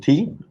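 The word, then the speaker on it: té: yeah i want some tea and i love you um so there we go the different uh meanings and again te is pronounced the same joke yeah that's a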